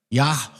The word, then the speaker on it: Yahweh: But Yahweh is the proper way to pronounce it. Yahweh, because that's the wa that's in there all the time.